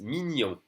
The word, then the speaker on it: mignon: Ensuite, GN is just like in Spanish.